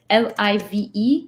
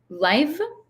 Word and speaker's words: live: So there's the word live could be pronounced two ways. Live, qui est en direct, right now, or live, c'est habiter.